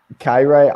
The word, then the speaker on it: Kairat: Kairat. I call him Kairat Almaty. I don't know. Okay, that's actually right, we'll go with that. Kairat Almaty. So Kairat on the road, they're averaging 2.2 goals, and